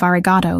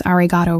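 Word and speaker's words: ありがとう: He also said to tell you that your pronunciation of arigato needs work. The O at the end should be longer, more sustained.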